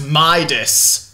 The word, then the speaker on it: Midas: to Gold a regular King minus Tater it's pronounced Midas I don't hear the difference foreign that concludes